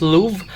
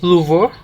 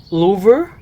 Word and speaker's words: Louvre: By the way, I always hear this word pronounced as Louvre, but when I checked some French clips on YouTube, they said it should be Louvre or Louvre.